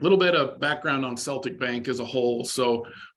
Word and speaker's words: Celtic: Asset-Based Lending at, Daniel, is it Celtic or Celtic? Celtic. You pronounce it Celtic. Okay, great. Yep. You're Get up. asked that a lot, but yeah, we say Celtic.